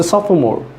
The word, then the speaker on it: sophomore: for more SOP H for mor e so sophomore so most of the students can ask me